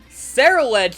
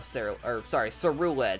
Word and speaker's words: Ceruledge: Like, I love Ceruledge, because that's how you say it, right? The anime says Ceruledge, not Ceruledge, but yeah.